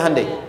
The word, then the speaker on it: Hyundai: bikin Honda sini Hyundai Hyundai kan dibacanya hundai ya kan sana Honda